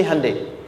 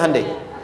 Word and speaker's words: Hyundai: Sehingga ketika di sana bikin Honda, sini Hande Hyundai kan dibacanya Hande ya kan.